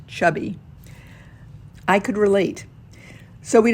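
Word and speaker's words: CHBY: a chinese-made chb trawler named chubby spelled c-h-b-y but pronounced chubby i could relate so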